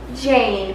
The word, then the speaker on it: Jayne: Jane, but it's spelled Jayne.